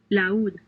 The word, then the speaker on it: laúd: Since these words have a written accent over the letter U, the diphthong is broken and the two vowels are pronounced separately. baúl, Baul.